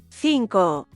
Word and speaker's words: cinco: W Hiszpanii litery zeta i c są wymawiane jak angielski w Meksyku nie mamy tego dźwięku. Zawsze wymawiamy je jak s. Na przykład zapato, zapato, zapato, cerveza, cerveza, cerveza, cinco, cinco, cinco.